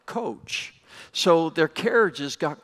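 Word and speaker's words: Kocs: that little town is it's spelled k CS but in Hungarian it sounds like coach so their carriages got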